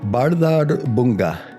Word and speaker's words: Bárðarbunga: Now, I'm only gonna try to attempt to pronounce this once, but this is a volcano in Iceland called Bárðarbunga. I'm pretty positive that is correct pronunciation.